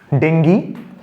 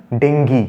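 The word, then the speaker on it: dengue: এখানে একটা সেন্টেন্স লিখলাম ডেঙ্গি has broken out ইন our town ঠিক আছে আচ্ছা প্রত্যেককে বলে দিই সে উচ্চারণটা কিন্তু সবসময় ডেঙ্গি আমরা ডেঙ্গু বলি অনেক সময় এগুলোকে আমাদের একটু ঠিক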